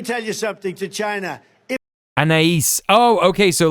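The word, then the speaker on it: Anaïs: You got to say Anais. Anais.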